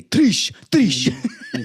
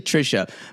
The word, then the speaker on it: Trisha: I can only hear I can only hear uh Natalie say Trish or Trish. It's actually Trisha, but I'm I'm fine with Trish.